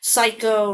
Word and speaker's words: psycho: Psycho, right? Like the movie American Psycho, P is silent. You say the S, but receipt, you do not say the P.